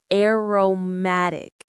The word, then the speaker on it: aromatic: The stress, that little bit of extra energy is on the third syllable. Ma, aromatic. Let's say it together slowly. air. Romatic. Now, a bit faster like you'd say it naturally. Aromatic.